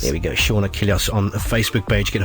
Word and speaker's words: Achilleos: Sean, like Sean Connery, S-E-A-N, and A-C-H-I-L-L-E-O-S. Just think of the Achilles heel from Greek mythology, and then you'll think of Achilleos. It's just an O before the S. There we go, Sean Achilleos on the Facebook page.